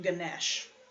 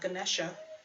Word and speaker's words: Ganesh: And I think of, whenever I think of Ganesh, not Ganesha, Ganesh, the Hindu do not pronounce the vowel at the end of it unless it's followed by a consonant. It's like the French.